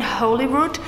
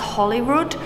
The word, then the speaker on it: Holyrood: I was saying Holyrood because it's spelled H-O-L-Y. But I think it's actually pronounced Holyrood.